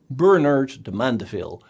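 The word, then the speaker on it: Bernard de Mandeville: book Bernard de M the name sounds a bit French but you should pronounce it the English way Bernard de mandaville because he worked as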